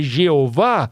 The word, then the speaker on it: Jeová: No português, o nome do tetragrama escrito mais de quase 7000 vezes na Bíblia, que é o Yh, que em português a pronúncia correta é Jeová, tem um significado.